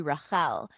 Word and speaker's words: Rachael: So, the long story is I know when you look at my name, it's spelled like Rachel, although there is an extra a at the end there. But growing up, my name is actually Rael, which nobody can say, right?